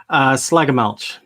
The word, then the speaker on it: Schlegelmilch: How do you pronounce it best? Schlegelmilch. So you're Schlegelmilch.